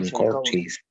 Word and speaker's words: Chancourtois: Chancourtis. Ahí eso. Así se pronuncia.